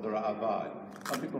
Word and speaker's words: Ra'avad: At the end of the Rambam, there's a comment by a gentleman called the Ra'avad. Some people mispronounce it, the Ra'avad. There are no yuds in the word Ra'avad.